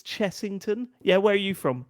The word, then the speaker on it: Chessington: It reminded me of the Cheserton thing. Oh yeah. It's Chessington.